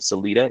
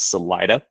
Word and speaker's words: Salida: We also mispronounced the other town here. Instead of Celita, it's Salida.